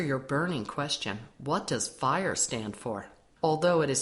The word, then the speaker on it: FHIR: burning question what does fire stand for although it is spelled FH iir it is pronounced as fire F stands for fast